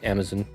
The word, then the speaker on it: Amazon: UK and he says Amazon like he doesn't pronounce the second a which I don't mind I just find it interesting.